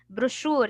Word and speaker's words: brochure: Brochure, you will pronounce it sha, although there's no sha. There's a cha.